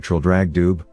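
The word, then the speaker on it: Traldragdubh: in my retinue to tr drag Dube or Trill drog drib for it is pronounced both ways as near as I can remember by a party of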